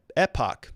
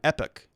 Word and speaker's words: epoch: epic okay so kenneth slayer says it's ep epoch epoch is an era or period of time epic epoch epoch all right all right well that